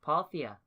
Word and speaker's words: Parthia: Oh, Parthia.